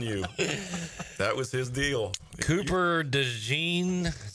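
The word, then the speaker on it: Cooper DeJean: fade I'm telling you that was his deal Cooper de Jean is how you say that guy's name he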